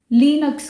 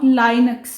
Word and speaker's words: Linux: when I started Linux, लिनक्स कह के, नॉट लाइनक्स। इट्स नॉट लाइनक्स, although उसने ये बोला